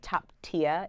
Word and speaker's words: Toptia: called top-tier photography it's a little bit of a wordplay on the Japanese katakana kind of language top tia is how you pronounce